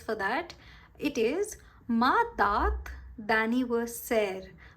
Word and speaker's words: date: It is ma date d'anniversaire. Go slow with this. Ma dat. It's not date. In English it's date, in French it's dat.